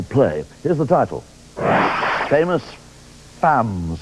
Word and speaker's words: femmes: Famous femmes. It says femmes here, but you know it's pronounced femme.